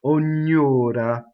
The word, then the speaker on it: ognora: Ognora. Because it's closed though. All the O's are closed, even the stressed one. One R, right?